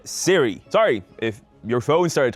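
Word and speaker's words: Cyre: Once again, following Keith's pronunciation guide, he said Siri.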